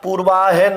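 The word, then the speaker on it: पूर्वाह्न: विशेष महत्त्वपूर्ण बात है पूर्वा न नहीं होता पूर्वाहन होता है है हलंत न पूरा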